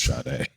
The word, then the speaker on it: Sade: That her name was spelled and it sounds like, why is this pronounced like shade? Is it French? It's not pronounced like shade, it's pronounced Sade.